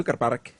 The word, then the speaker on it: Zugerberg: We were on the top of a mountain called the Zugerberg, pronounced Zuckerberg in Swiss German.